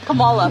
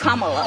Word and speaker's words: Kamala: how to say her name earlier you said Kamala the way she pronounces her name is Kamala you don't work with theas see that car